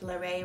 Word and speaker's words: Larray: me reacting to larae i said larry at first it's larae wright let me know if i'm